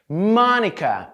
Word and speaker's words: Monica: Mônica, Mônica, Mônica. A letra O em Mônica soa quase como um A.